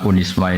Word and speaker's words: Unisma: Jadi saya mohon karena UNISMA ini kan biasanya bacanya UNISMA apa Zunisma? Unisma. Unia sudah berarti sudah Indonesia banget. Saya tuh masih menangi orang baca Zunisma Zuii. Karena setengah Indonesia setengah rodok mambu-mambu Inggris.